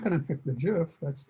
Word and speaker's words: GIF: jpg I'm gonna select Jif or gif however you want to pronounce it both are used jiff is actually the original quick-like correct way like giraffe but gif is the one that's more commonly so if I want